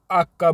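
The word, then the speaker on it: acca: एच को Italian में आक्का बोलते हैं, आक्का, आक्का, ये नीचे लिखा हुआ है आक्का।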